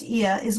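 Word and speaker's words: Oia: trying to do the town of IA which is that o i a it's pronounced I is where those famous Blue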